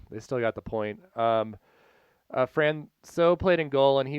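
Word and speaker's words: François: And I think it's actually Francois. Like there's an S, but not hard.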